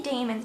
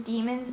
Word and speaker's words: daemons: I want to say daemons, but I'm pretty sure the pronunciation is demons, but whenever it's spelled D-A-E instead of just D-E, I want to say daemons instead of demons.